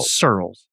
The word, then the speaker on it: Searles: It's a tough name to pronounce, but Searles. Searles, like squirrels without the Q.